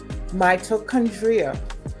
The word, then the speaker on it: mitochondria: You can activate more brown fat, which leads to mitochondria. Mitochondria, that's how it's pronounced.